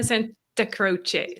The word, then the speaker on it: Santacroce: Santacroce. So Santa like Santa Claus and Croce like Jim Croce.